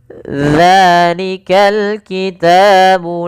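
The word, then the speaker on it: ذَٰلِكَ الْكِتَابُ: Pada lafal dza, usahakan teman-teman mungkin bisa melihat daripada bibir kami untuk makhrajnya, yaitu dza, ujung lidah kita tempelkan daripada 2 gigi kita. Maka dza, maka dzalikal kitabu.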